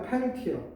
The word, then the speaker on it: Peltier: 제벡 이펙트, 제벡 효과인데 독일인이고 바로 그 다음에 펠티어. 이건 또 이게 독일 같은데 이건 프랑스. 펠티어 이펙트.